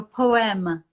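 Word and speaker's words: Poème: do you know Oh poema how I am like a poem but in French yeah it's a gorgeous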